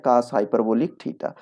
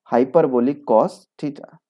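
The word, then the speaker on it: cosh θ: मान लो थीटा के बारे में बात करें तो कॉस हाइपरबोलिक एक्स या कॉस हाइपरबोलिक थीटा।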